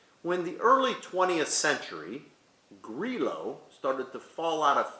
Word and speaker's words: Grillo: the grape it's actually g-r-i-l-l-o and we have the tendency to pronounce it as grillo but in its native sicily it's pronounced grilo and this wine has